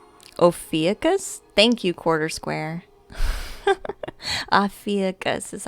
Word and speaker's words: Ophiuchus: Ophiuchus is how I pronounce it.